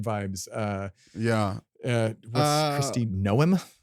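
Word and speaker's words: Noem: uh yeah what's Christy Noom is that how you say her name yeah n like a gnome like a tiny gnome got it um Christy gnome yeah she's the governor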